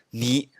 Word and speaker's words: 二: 我再来发一下，二就是泥泥泥，两就是梁梁梁。